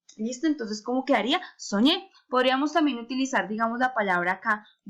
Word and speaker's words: soñé: Yo digo soñé. ¿Dónde hay mayor fuerza de pronunciación? En la ñe.